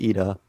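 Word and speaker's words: Iida: character in My Hero, his name was actually Tenya Lita because he had been reading the subtitles, and in the subtitles, so his name is spelled I-I-D-A, but in the subtitles, the capital I looks like a lowercase L.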